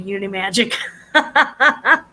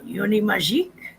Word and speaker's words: Unimagique: It's pronounced French, but easier to say Unimagic. you, it's Unimagique.